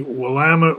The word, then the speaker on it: Willamette: So this is looking down on the Willamette River. That's how we pronounce it, not Willamette, Willamette.